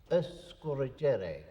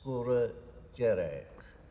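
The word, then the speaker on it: Sgùrr Dearg: Now the native pronunciation is escoreric. The F being the there is a glide A or F sound put between uh score and Jerich uh that's very common in garlic is skor jerk the red peak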